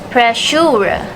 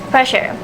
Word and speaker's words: pressure: The difference found is in the vowel in the second syllable sure. The speaker uses the long vowel U on the second syllable, but according to received pronunciation, they use the schwa sound.